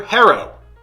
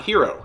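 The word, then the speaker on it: Herro: maybe you're thinking uh Tower Harrow not hero hero who named this kid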